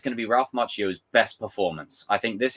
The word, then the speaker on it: Macchio: 2 C's is pronounced Chi. Sorry, I was speeding through it. Ralph Macchio.